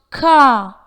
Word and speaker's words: car: Car, C-A-R, is pronounced car in British English, but not car or car.